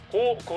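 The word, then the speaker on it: 轟轟: 오우 캐미 등장하기도 하였습니다 아 그리고 제목이 갱 일 뿐이지 직접적인 발음은 고고 로 발음하고 있습니다 세번째는 30대 전대에 맞는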